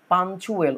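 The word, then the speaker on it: punctual: হচ্ছে শৃঙ্খলাপূর্ণ সে শৃঙ্খলাপূর্ণ পাঞ্চুয়েল উচ্চারণটার দিকে একটু লক্ষ্য করবা পাঞ্চুয়েল কেমন পি ইউ এন সিটি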